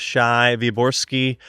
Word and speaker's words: Shai Wyborski: and here we are on the podcast with Shai viori welcome to the podcast thank you thank you for pronouncing my name correctly we we did do